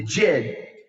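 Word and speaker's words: djed: associated with The Jig that's spelled d-j-e-d the Jed is really the vertical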